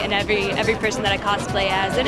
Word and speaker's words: cosplay: Tons of people are engaging in costume play, or cosplay, because apparently the third syllable is just too much.